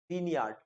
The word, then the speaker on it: Grignard: Grignard reagent is written as Grignard, but it's pronounced as Grignard.